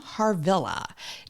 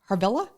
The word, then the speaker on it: Harvilla: to your face did I say it right harilla harilla harilla okay har y as I was saying I'm